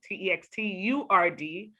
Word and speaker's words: Textur'd: That's why it's like turd, but anyway.